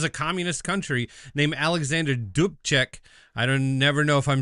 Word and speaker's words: Dubček: I mean, this is a communist country named Alexander Dubček. Never know if I'm saying that That's right. correct. But Dubček.